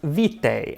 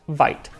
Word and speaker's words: Vite: Tim, assures me that it is pronounced Vite, like bite.